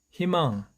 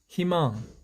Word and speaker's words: 희망: 모음 처음 플러스 의 이는 항상 2 로 발음 한다는 거 기억하시죠 그래서 히 만 히 이마 희망 희망 희망 질문 최 이미 5 최 이미 이렇게 모음의